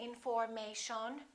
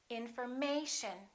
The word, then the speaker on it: information: don't think may shown we don't say information we say information once again information in